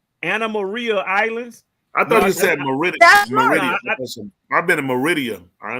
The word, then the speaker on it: Anna Maria Islands: hold on hold on how are you pronouncing that word say that word again Anna Marie Islands Anna Maria Islands I've been in Meridian